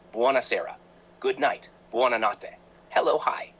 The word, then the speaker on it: buonasera: Good evening, buonasera, pronounced buonasera.